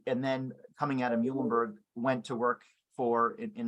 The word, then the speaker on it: Muhlenberg: did you get to your undergrad program at Muhlenberg school did I pronounce that correct correctly you got it you